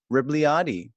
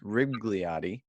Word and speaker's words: Rebagliati: me on your name i pronounced it in the introduction as ross rigliotti and it's there's no ag sound and and yeah a